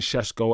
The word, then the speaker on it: Sesko: I'm not going to keep saying Sesko, and I'm going to forget to say it, but apparently that's how you pronounce his name, is Sesko.